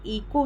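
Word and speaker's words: echo: ठीक है, ऐसे ही इको है, इको में हम जो है कि ई के बाद इको डायरेक्ट बोल देते हैं। हम क्या करते हैं, एच को साइलेंट कर देते हैं। यहाँ पे आप देखो कि CHO आया हुआ है, लेकिन हम फिर भी एच जो है कि पहले आया है ओ से, इसलिए हम उसको साइलेंट कर दिए।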